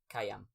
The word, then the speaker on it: Khayyaam: So please welcome today's guest, Khaayyam. Hi, you actually pronounced my name pretty well.